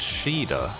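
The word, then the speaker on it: Shiida: So her name is actually pronounced Shida.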